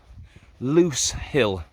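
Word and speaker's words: Lose Hill: final peak to head towards so this is loose hill i don't know whether you can also see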